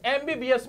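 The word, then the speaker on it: MBBS: एमबीबीएस में ए का sound आ रहा है। एम को बोलते हैं हम इस तरह से एम एम। तो यहां साउंड कैसा है? वोवेल है। इसलिए एम से पहले यहां क्या आएगा? एन आएगा। मेरे प्यारे दोस्तों आगे बढ़ते हैं।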